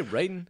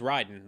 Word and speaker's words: Raiden: In Metal Gear Solid, it's Raiden. They always call him Raiden. But now I'm wondering if that was just, mistranslated somehow. Possibly, but... Is it spelled the same? Yeah, spelled R-A-I-D-E-N.